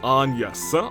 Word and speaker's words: Agnes: The name, Agnes, is the French pronunciation, which is Agnes.